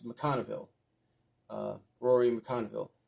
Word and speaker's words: McConville: by um comic book writer Rory mcconville mcconville pronouncing his last name correctly with artwork by Brett Booth that's an uh awesome it's mcconville uh Rory mcconville it's an awesome cover there